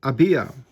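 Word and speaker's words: ABYA: the world of action they are written acrostic pronounced ABIA the function and significance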